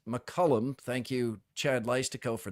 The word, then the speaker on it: McCollum: we have learned that he prefers it be pronounced McCullum thank you Chad litico for that who actually asked I was saying McCollum some were saying saying McCullum I heard even a few McCullum but it is McCullum by his preference so that's what we'll go